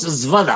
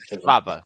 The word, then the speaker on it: Schwab: Klaus Svada, No, joder. Schwab.